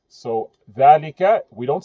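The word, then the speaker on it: ذلك: dhalika Notice dhalika, you hear the alif sound. dha lika. The alif is omitted when you write the word, but it's pronounced. So, dhalika, we don't say dhalika, we say dhalika.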